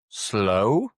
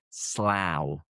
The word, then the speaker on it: Slough: You might think it's slow. But no, in this case it rhymes with cow. So the vowel sound is an ow.